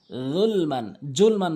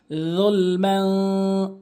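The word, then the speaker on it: ظلما: দাঁতের আগা যালামতু নাফসি জুলমান বলা যাবে না জিহ্বার আগা দাঁতের আগা উচ্চারণ করতে হবে যুলমান এখানে ইকফা করবেন গুণনা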